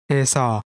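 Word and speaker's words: 에서: This is read as Esa.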